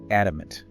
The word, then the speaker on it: adamant: Adamant. Adamant. A-D-A-M-A-N-T. Stress the first syllable, adamant. Yeah. And remember that American English quicked in sound between vowels, like in Canada.